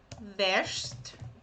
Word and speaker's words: wäschst: ich wasche, aber du wäschst. So here we change the pronunciation. Okay, this is e. Okay, when you add umlaut, those two dots on the vowel, it's pronounced like e.